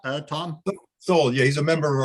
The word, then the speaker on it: Sowell: So Mike Sowell, is it pronounced Sowell, Tom? Sowell, yeah, he's a member of our group too.